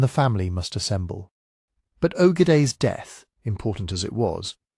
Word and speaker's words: Ögedei: Ögedei Khan, pronounced Ögedei, son and successor of Genghis Khan, died in December 1241.